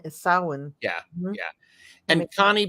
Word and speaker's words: Samhain: it makes sense in the way that it's pronounced sawin not you know sah Hayne sawin yeah yeah and Connie B Connie B black